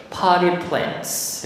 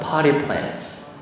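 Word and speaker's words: potted plants: 자, 발음이 potty plants 해보세요. potty plants.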